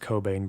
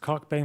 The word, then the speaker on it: Cockbain: University College of London I know her name is actually pronounced Cobain but I'm sorry we're not doing that here when this study was published cockbain was a little annoyed